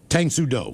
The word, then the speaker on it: Tang Soo Do: Tang Soo Do. Yeah, correct. trust me, I Google pronunciated it.